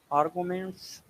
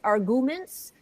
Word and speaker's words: argument: But when Americans say it, they say arguments, and it sounds like it's spelled with a Y after the G. Like if you had RGYUMENT, because it's like they're saying you.